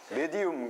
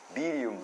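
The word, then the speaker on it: medium: 말하죠 미디움 미디움이에요 미디움 한국어 발음으로 메디움 그리고 영어 발음으로는 미리움 이렇게 얘기하는데 이게 중간이라이 영매를 뭐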